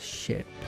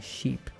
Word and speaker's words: ship: Sorry, I can't pronounce ship. I keep saying sheep, as in bad, a ship, you know.